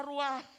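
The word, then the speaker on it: רוח: estos muertos y vivirán la palabra espíritu es en el hebreo una palabra que se pronuncia rúa pero esta palabra significa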